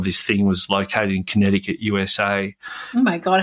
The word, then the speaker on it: Connecticut: Anyway, but we didn't know how to pronounce Connecticut. And I remember we called it Kentucket, right?